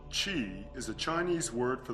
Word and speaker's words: Qi: Qi, pronounced Chi, is a Chinese word for the life force energy that flows throughout the body.